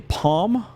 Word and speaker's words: palm: Some people say palm, like P-O-M, and then some people say palm, like a palm tree. Now, it's spelled P-A-L-M, so I've always said palm tree, which I still think is accurate.